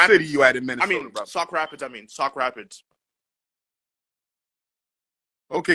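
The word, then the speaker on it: Sauk Rapids: Rapids Minnesota right Sock Rapids with a s Sock Rapids right South like North s Sock Rapids spell it s a u k r a p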